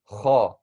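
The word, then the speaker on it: خ: Kha when we're saying this.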